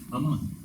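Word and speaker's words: אמן: Okay, so now the Hebrew word for faith тук еврейската дума за вяра is aman. е амън. Okay, it's spelled exactly the same way as amen in Hebrew, which becomes amin in Bulgarian.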